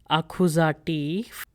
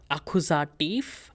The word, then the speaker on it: Akkusativ: So make sure when you're pronouncing these words, there is F sound at the end. Nominativ, Akkusativ, etc.